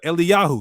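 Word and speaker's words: Eliyahu: Because how do you say Elijah in the proper Hebrew? Eli, I'm sorry. Uh Eli Yahu. Yeah. Eli Yahu or Eliah. There's a shorten form, Eli. And then there's a divine name at the end.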